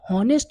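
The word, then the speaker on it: honest: ये चीज देखो अब होनेस्ट यहां पर जो एच है ना वो साइलेंट है अब इसका साउंड निकालो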